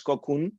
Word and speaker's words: Qokoon: how to pronounce it I wanted it to be pronounced as cocoon okay uh when I created